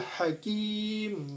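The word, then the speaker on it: الْحَكِيمُ: Nah, di sini ada mad arid li sukun. Mengapa? Sebab mad tabi'i menghadapi huruf hidup lalu dibaca waqaf dan huruf hidupnya di sini yaitu mim yang berharokat dhammah. Dan panjang mad arid li sukun ini boleh 2 harokat, boleh 4 ataupun 6 harokat asalkan kita konsisten dalam membacanya.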